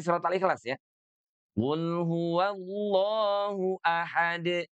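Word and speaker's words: أحد: Qul huwallahu ahad. Jangan ditahan dulu. Qul huwallahu ahad de. Enggak usah ya. Pernah juga saya mendengar ya. Ada ada yang bacanya itu ahad de gitu ya.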